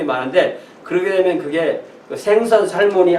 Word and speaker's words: Salmon: 근데 영어로는 이게 생선을 부를 때는 세먼 이렇게 부르고, 이 사람을 읽을 때는 살몬 또 이렇게 읽습니다.